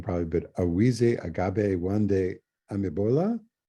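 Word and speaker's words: Awise Agbaye: So in your book, I'm going to mispronounce the name probably, but Awize Agabe Wande Amibola. Awishe Agbaye.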